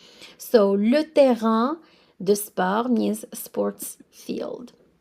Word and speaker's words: terrain: Le terrain de sport. So the A-I-N at the end, you pronounce it as un, like number one. So le terrain de sport means sports field.